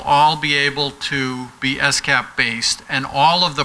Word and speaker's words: SCAP: detail called s-cap and it's very important if you're going to be credible that you pronounce it s-cap and not scap you start saying scab people are going to think you don't get it so if you